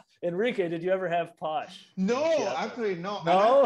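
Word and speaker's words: pox: And of course, alcohol, posh, P-O-X, pronounced posh, sometimes spelled P-O-S-H, is basically moonshine, corn whiskey.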